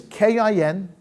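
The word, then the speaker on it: kinyan: the two bar in the kenyan kenyan is k-i-n-y-a-n kin yan kenyan means to acquire a what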